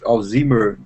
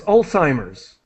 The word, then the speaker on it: Alzheimer's: uh a patient with alimer disease ah right uh the pronunciation is Alzheimer's Alzheimer's is the parties Alzheimer